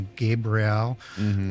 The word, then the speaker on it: Gabriel: And I say that just deliberately where I have a EL. Yeah. Why do you say it like that? Well, because in angelic names, they end with a Hebrew word, which is EL, which is defined as an angel or a god.